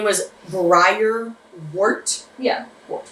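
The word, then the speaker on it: Briar Wort: So his name was Briar Wart? Yeah, Wart. Like one word? No, just Briar Wart.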